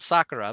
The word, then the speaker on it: Sakura: So I have always said Sakura because that is how she told us to pronounce her name.